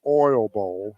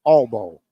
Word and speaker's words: Oil Bowl: This was never the Oil Bowl. It's the Oil Bowl. It's not even 2 full syllables. It's the All Bowl.